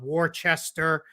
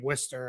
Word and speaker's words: Worcester: Yes, that's how you say it. It is not Wararchchester or anything like that. You say it Worcester.